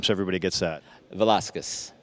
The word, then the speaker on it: Velazquez: say your last name so everybody gets that Velasquez Velasquez cool Diego velázquez might be the most famous